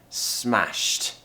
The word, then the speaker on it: smashed: then we need to quickly finish with it and we need to do all of this in one breath it's a consonant cluster so do it with me Shh imagine you're ending the story you're ending that sound the sound with a very quick smashed smashed so if you were